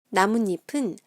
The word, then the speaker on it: 나뭇잎: 나뭇잎은 순 우리말이 들어간 합성어예요.